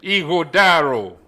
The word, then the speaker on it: Ighodaro: name everybody boy is my first name igor darrow there you go i can pronounce that yeah yes but if you can't